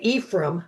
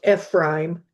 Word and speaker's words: Ephraim: Ephrime is how you pronounce that. FB prime. That's we often say Ephraim. I had an uncle, a great uncle named Ephraim, but um it's technically pronounced Ephraime.